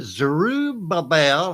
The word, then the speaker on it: Zerubbabel: Was it Zerubbabel? And that's the way you pronounce it. I looked that one up. It's a tongue twister.